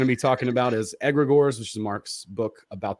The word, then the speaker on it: egregore: It's a Greek term, and it's egregore is closer to the pronunciation. But of course, we say egregores for simplicity.